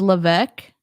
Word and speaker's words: Levesque: Levesque the S is the S is silent so it's LC we will see how